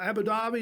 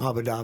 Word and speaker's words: Abu Dhabi: that's right it's exploding the guys from uh abu dhabi is how you say it abu dhabi abu dhabi is that that's about the same